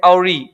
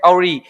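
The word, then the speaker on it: awry: अपन को पता है आवरी का में व का उच्चारण नहीं होता है। इसको हम बोलते हैं अवरी। क्या बोलते हैं? अवरी।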